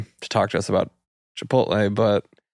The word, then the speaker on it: Chipotle: Bit of feedback about how you pronounced Chipotle versus Chipotle. I sometimes gloss over the T. The T scares me.